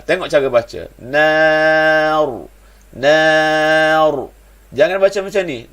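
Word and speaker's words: نار: Ra tu bila kita waqaf pada ra tu wajib baca tebal. Sebab apa dia? Sebab nun ini baris atas. Maka ra baca tebal. Tengok cara baca. Nar.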